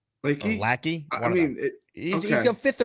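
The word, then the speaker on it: Lachey: I don't know how to pronounce his last name. It's it's Luke L a c h e y leaky leaky lackey.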